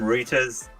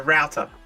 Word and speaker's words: router: hate that you guys call them reuters it's a router no no no it's a router like madison a router is for doing wood how is it that australians and americans say router and and brit say say reuter that's so weird not